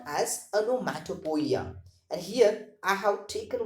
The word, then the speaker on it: onomatopoeia: The pronunciation of this particular word is onomatopoeia.